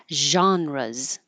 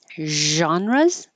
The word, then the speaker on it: genres: language is everyday language this can be said more French style with a z like sh but with voicing genres or more Americanized with a J like it's going to sound like a man's name JN genres genres or genres